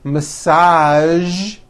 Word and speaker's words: massage: television very good now there are only a few words that have the voiced sound at the end a few of these words are the color beige the word massage and the word prestige okay now that you